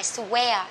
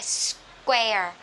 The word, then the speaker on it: square: đọc là swear, nhưng nó không phải là chữ w này các bạn, nó là chữ k. Ok, vậy cái này sẽ là square, square.